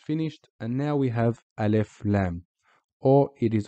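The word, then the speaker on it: ال: which we just finished and now we have alef Lam or it is also more formally known as so let's jump straight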